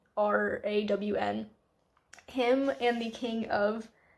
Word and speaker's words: Arawn: I think his name is Aaron. It's Arawn.